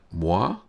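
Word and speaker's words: mois: are correct uh uh how do you say that muah is the French word for months is s silent must be but yeah thanks thanks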